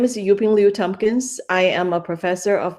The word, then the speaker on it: Yuping Liu-Thompkins: docs today I have the pleasure of interviewing yuping Liu Tompkins um welcome you ping I hope I pronounced your name correct yes definitely you got